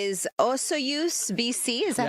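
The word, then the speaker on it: Osoyoos: And the answer is is Osu BC. Is that how you say it? So, it's pronounced Osuyus.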